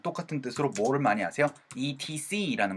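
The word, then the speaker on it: et cetera: ETC라는 걸 많이 아시죠. 근데 ETC라고 적으실 땐 ETC라고 적어야 되지만 이거는 뭐라고 읽어야 되냐면은요 etc. 해서 세에다 강세가 꽝 하고 찍혀요.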